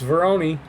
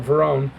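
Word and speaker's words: Varone: And I'm saying it right this time, Veroni. I thought everyone was saying it wrong, and it turns out it's Veroni, not Verone.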